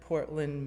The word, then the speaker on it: Portland: my experience is that you will have heard Portland, Maine. Nope, other Portland. And it's pronounced Portland, Oregon, by the way.